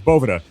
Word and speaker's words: Boveda: It's it's Bovetta.